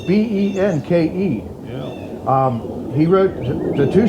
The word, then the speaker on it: Benke: Yeah, and I don't know how you pronounce that. It's Benke.